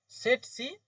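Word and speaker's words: tsetse: তো এটা হচ্ছে টি এ সি তাহলে ওটা উচ্চারণ সিফাই টি সেট হ্যা হ্যাঁ সেট সি রাই আচ্ছা আমি একটু লিখে দিই যেগুলো বুঝতে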